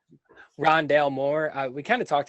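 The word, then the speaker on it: Rondale Moore: his name correctly um ron dale moore yeah did i get ron dalmore yeah not ronaldo like i think he called him earlier yeah ron dale moore uh we kind of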